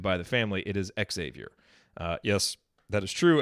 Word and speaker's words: Xavier: announcer in the world pronounced it like the university in cincinnati so xavier until he was corrected by the family it is xavier uh yes that is